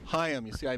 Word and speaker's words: Chaim: Chaim. Chaim. You see, I mispronounced it.